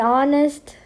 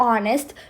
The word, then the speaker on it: honest: There's also another example for this, an honest girl. So in these two words, the H is silent.